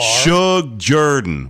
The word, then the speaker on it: Shug Jordan: It's not Michael Jordan.